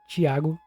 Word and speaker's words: Thiago: his name is Thiago Thiago is actually a really common name here in Brazil we pronounce it Chiago and I think his